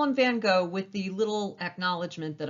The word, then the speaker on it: van Gogh: portrait of his mother vincent van gogh actually van gaal but if i keep saying van gaal i'm going to have a sore throat so we're going to call him van gogh with the little acknowledgement that i know that's